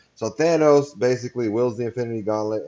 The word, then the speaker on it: Thanos: Here's Thanos. It's Thanos. And that's something I do here. I give you all the proper pronunciation. So Thanos basically wields the Infinity Gauntlet and destroys half the universe in the MCU.